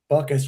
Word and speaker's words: Buckius: Backius Buckius, I don't even want to say it pronounce his name right. Buckius just like just like Rocky's dog's name, right, Frank?